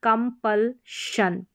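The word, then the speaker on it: compulsion: जैसे कि कंपल श तो कंपल जन नहीं पढ़ेंगे शन इसका साउंड रहेगा जैसे कंपलशन extension extension expansion expansion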